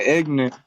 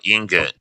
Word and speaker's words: ingot: So it'd be like an ignet, or how do you pronounce it? An ignet? I don't know. IGNOT. I don't know. It's called ingot. Oh, okay. Ingot. Ignorant. I'm ignorant for saying it like that.